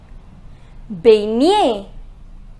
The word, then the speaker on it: baigner: Remember, the pronunciation of GN is near. It is near. What will be the pronunciation? Baigner. It is baigner.